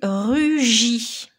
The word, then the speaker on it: rugit: Mot suivant, le verbe conjugué rugit. Donc la lettre muette était la lettre T au bout.